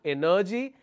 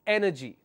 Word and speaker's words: energy: g three three syllables we always pronounce this as energy it's not energy it's energy because g y I will have the stress on the third syllable from the end which is anti penultimate so I will say energy instead of energy the last one is